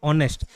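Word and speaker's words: honest: तो tsunami T silent रहता है, बस वैसे ही आवर में H साइलेंट रहता है, ऑनेस्ट में H साइलेंट रहता है। तो प्रोनाउंसिएशन कहाँ से होता है, ओ से, ऑनेस्ट।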